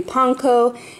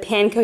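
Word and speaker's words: panko: for lunches we got some bananas some gluten-free ponco now I say ponco instead of panco you guys cuz I actually lived in Japan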